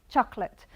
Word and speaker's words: chocolate: But in English we say chocolate. Chocolate. So we eliminate this, and this is ut, chocolate.